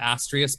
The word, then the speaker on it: Astraeus: In fact, that's how most people are pronouncing it. I call it Astraeus, but both are correct.